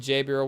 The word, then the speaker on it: Jabriel: Mabin Gabriel with it's spelled with a J if you're listening to this. That's why we said Jabriel. We're not just reading it bad.